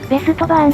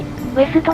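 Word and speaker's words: Westbahn: この会社、前に特集した時に、私たちは、ベストバーンと言っていました。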